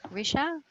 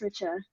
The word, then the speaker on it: Richa: that just arrived okay is it risha is that how you pronounce your name yeah um it's pronounced richa all right richard nice